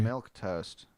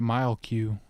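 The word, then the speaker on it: milquetoast: Is that how you say it? Yeah, that Yeah. is how you say it. Milk toast. Oh, you don't say it mile Q. Toast.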